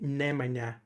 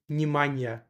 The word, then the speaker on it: Nemanja: And I actually didn't know how to pronounce it correctly, like Nemanja, before I moved in here. And so I always thought, like my entire life, I thought that the way you pronounce Nemanja is Nimanja.